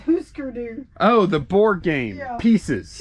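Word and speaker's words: Hüsker Dü: know what that is it's actually pronounced huskeroo oh the board game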